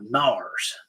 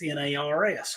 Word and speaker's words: Narrows: N A R R O WS, but the locals will call it Nars. And you have to know this. They they pronounce it like it's N A R S or N A R Z.